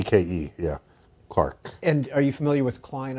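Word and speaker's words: Clerke: to do Agnes clerk it was probably pronounced Clark but it's it's spelled Cler k z ke yeah Clark and you familiar with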